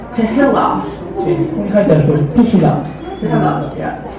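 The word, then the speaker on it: תהילה: Tehillah. ここに書いてあるとおり、テヒラ。 Tehillah. Yeah. The emphasis is on the end. Tehillah.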